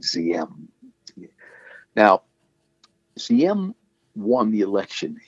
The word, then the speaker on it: Diem: His middle name is D-I-N-H, Din, and the first name is D-I-E-M, spelled like, or pronounced like Z-M.